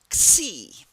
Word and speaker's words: Xi: It starts with an X, but it's pronounced Xi, so that when you see the Xi, that's how you pronounce it, like a KS.